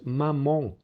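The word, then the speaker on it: maman: Es una A velar A, que pronunciamos con la nariz evidentemente. Y estas son las grafías a las que se corresponde. EN, EM, AN, AM. No es mamán, sino es mamón, mamón, o ambulance, ambulance.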